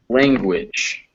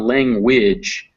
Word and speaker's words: language: yes this is language so normally in english we have this ng it's just pronounced um but sometimes when it's followed by a vowel that g comes back so it's not language it's language so all right so